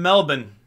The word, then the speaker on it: Melbourne: of Australia you live in I live in Melbourne see how I pronounce that I know I know I know